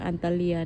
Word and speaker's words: Antalya: ใน อั่น เมือง อัน อันตาลี นะ คะ อันตาลี เนาะ อันตาเลีย นะ คะ เนาะ ประเทศ นี้ เขา จะ ออก เสียง อันตาเลีย นะ เพราะ ว่า หนู